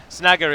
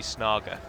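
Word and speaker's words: Snaga: Snagger is one of the few examples where you do pronounce the high A, as I'll call it, rather than the low A, where it would be Snager. But then that's because it's Orcish, it's not Sindarin or Quenya.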